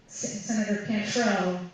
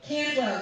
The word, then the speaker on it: Cantwell: We went out and did a press conference with Senator Cantrell. Am I saying that right? Well, Cantwell, thank you, I knew I said it right.